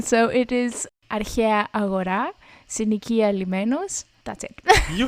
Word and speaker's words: αρχαία αγορά: With the pronunciation, so it is αρχαία αγορά, συνοικία λιμένος.